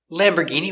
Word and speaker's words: Lamborghini: Lamborghini. We see it's not or, it's Lamborgh. And the G makes a hard G sound. Lamborghini.